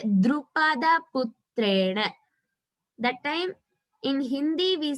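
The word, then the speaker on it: Drupadaputrena: So it has to be pronounced as Drupada Putrena.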